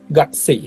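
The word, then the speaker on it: 学生: তো যেহেতু ক বলে কিছু নাই, কু আছে, হ্যাঁ, কিন্তু উচ্চারণ হবে ক এর মতো, গাকসেই।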